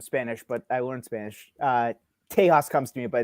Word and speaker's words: Tejas: Is it Tejas or Tejas? Yes. It's actually neither. It's Tejas. So it's how you would pronounce the non-Spanish names.